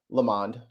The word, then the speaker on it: Lamond: Real quick, our dear friend Bill Lamond, rhymes with pond, fill the pond.